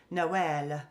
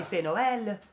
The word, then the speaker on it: Nawal: And in Arabic my name is spelled N W L, Nawal. Nawal. Yeah. So, when you hear an Arab say it, it sounds different. Okay, we say it differently. Yeah. Nawal and they curl the L around.